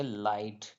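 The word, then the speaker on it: light: आई जी एच टी एल आई जी एच टी में जीएच T last में आ रहा है तो यहां पर जीएच क्या हो जाएगा साइलेंट हो जाएगा तो इस इसे पढ़ेंगे लाइट क्या पढ़ेंगे लाइट पढ़ेंगे उसी प्रकार लास्ट वर्ड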